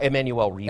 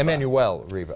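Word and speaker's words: Emmanuelle Riva: Uh Emanuel Reva. Emanuel Reva.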